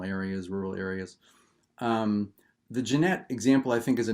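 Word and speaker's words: Gennett: so jeanette records it looks like gannett it's pronounced jeanette it was a small town us record company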